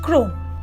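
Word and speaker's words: crosnes: দেখেননি number ten ক্রসনেস pronounced ক্রোন যখন আপনি এই সবজিটিকে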